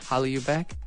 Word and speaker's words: HallyuBack: of your site hollow you back am i pronouncing it correctly yeah Holly you back what's where's this coming from okay well this